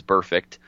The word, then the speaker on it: Burfict: missing practice, particularly Vontez Burfict at linebacker. How do you pronounce that name one more time for me? It's the word perfect. Yeah. It's that with a B.